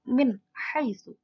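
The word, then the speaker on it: مِنْ حَيْثُ: Kita ambil contoh yang nun sukun bertemu dengan ha, maka membacanya juga jelas. Menjadi min haitsu. Jadi nun dan ha-nya harus jelas.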